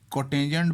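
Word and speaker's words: cot: इसको कोटेंजेंट बोलेंगे लेकिन यहाँ पर जो सा है वो कॉट लिखेंगे।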